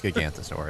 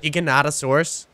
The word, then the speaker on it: Giganotosaurus: are breaking my game I think it's gigantosaurus oh hav gigantosaurus do you have one of the turtlesaurus Giganotosaurus there you go a giganotosaurus [ __